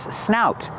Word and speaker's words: snout: This is the bear's snout. It's his nose, mouth, everything. The part that sticks out here is called a snout. This is the bear's snout. Pronunciation, use the ow sound like out and about.